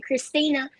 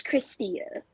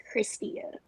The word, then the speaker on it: Christia: like that's my mama name christina they'll say christina or christy or krista i'd be like bro it's christia kristia that's it it's nothing else just slow it down and take your time and pronounce it it's not hard you